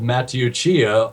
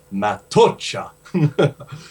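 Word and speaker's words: Matteuccia: The Preacher's Demons, and I said Matthew Chia over the phone, and he just started laughing, and he said, "Ha ha ha ha, Matucha." So that's how it's pronounced.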